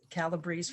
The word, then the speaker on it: Calabrese: uh because then people can know that it's calabrese for common please it rhymes that's that's so convenient i know my